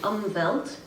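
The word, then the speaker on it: Umwelt: text you'll read about umvelt e-m-w-e-l-t umbelt is how it's pronounced it's a German word and that means a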